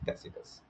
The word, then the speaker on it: Tacitus: His pronunciation is Tacitus.